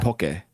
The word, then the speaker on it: poke: so that's okay so Hawaiian poke poke is actually poke okay so I'm saying